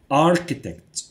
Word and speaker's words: architect: apartment مهندس معماري architect من الكلمات اللي فيها السي اتش تنطق ك وليس تش architect الهندسة engineering لاعب رياضي